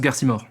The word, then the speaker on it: Garcimore: Ça se prononce Garcimore.